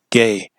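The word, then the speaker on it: γῆ: That's how you pronounce this word, world, gay, where the previous frame was ion, which means age.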